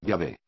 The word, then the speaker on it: Yahvé: Y que por lo tanto, el nombre correctamente pronunciado, y escrito del Dios bíblico, debería de ser, a partir de ese instante, Yahvé.